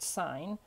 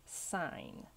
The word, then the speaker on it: sine: write this we don't write the whole word sine we write there were the word s i N but do not pronounce it as sin it is always pronounced sine and that's how you'll see it on your